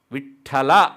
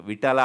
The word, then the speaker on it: ವಿಠಲ: ವಿಠಲ ಅಂದರೆ ಆ ಠಕಾರ ಹೊಡೆದೇ ಹೇಳಬೇಕು, ವಿಠಲ ಅಲ್ಲ ಅಲ್ವಾ.